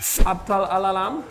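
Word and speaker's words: أبطال العالم: Abtal al-alam. That was really cool. Abtal al-alam. Yeah, Abtal al-alam. Because the A we say it like ah, you know?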